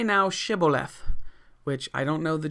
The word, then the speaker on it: Shibboleth: And he said Sibboleth instead of Shibboleth, Sibboleth, for he could not frame to pronounce it right.